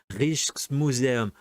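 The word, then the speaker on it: Rijksmuseum: de nuit c'est 4 alors la prononciation rich rich museum R museum Amsterdam et 5 Rambrant et j'ai les ninfea c'est le 2 au musée de l'orangerie et c'est Claude Monet.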